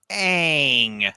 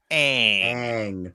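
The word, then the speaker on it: Aang: And just so everybody knows, it is pronounced ang movie creators ang.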